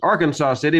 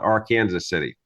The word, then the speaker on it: Arkansas City: Owens Bail Bonds in our Kansas City which most people would pronounce as Arkansas city but in Kansas we prefer to call it our Kansas City also we go by